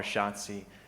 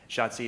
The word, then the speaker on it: Schatzi: I call her Schatzi. Schatzi is German for darling. And it's easy to remember because it rhymes with Nazi.